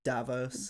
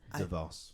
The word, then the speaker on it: DeVos: That Dwayne Wade's visit was like got more accomplished for them Yes, than Betsy Davos. Davos. Is that how you say it? DeVos.